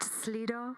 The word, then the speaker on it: Slido: It's pronounced Slido.